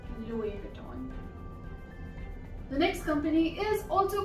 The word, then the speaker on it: Louis Vuitton: The next word is Louis Vuitton. Louis Vuitton. Not Louis Vuitton, Louis Vuitton. So this is basically a French company as it was named after the founder. So it's Louis Vuitton.